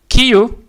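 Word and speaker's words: 今日: For instance, on this one today, it says Kio Kio because the O is long. There is a long O in it.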